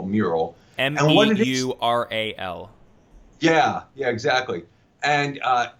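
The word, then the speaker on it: Meural: That is a digital frame from one of our portfolio companies called Mural. Okay. It's spelled M-E-U-R-A-L, Mural.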